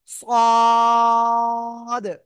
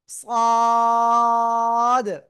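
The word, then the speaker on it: ص: পেটও agar সাথে লাগে একটু মোটা আওয়াজে উচ্চারণ করব চার আলিফটা নিয়া সবাই খেয়াল করবেন সদ সদ চার আলিফটান সদ ঠিক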